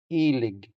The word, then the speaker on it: ilig: The stress here falls on the first syllable, so here's the stress mark. ilig ilig ilig Since the first E is stressed, it sounds longer than the unstressed second E.